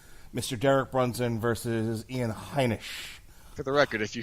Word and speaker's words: Heinisch: How are you pronouncing it? Heineken? Heinisch.